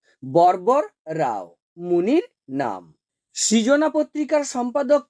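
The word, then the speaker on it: వరవర రావు: সংখ্যা কত 17 টি ভারভারা রাও এর নামটি তেলেগুতে উচ্চারণটি কি বরবর রাও মুনির নাম সৃজনা পত্রিকার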